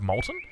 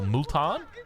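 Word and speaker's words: Multan: He could also do governor of Molton uh or Mulan as it's pronounced, but we'll we'll check in with him and see exactly what the play is a little bit later.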